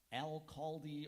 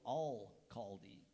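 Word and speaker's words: alcalde: there any alternate pronunciations there's Al caldi or Al caldi can I have the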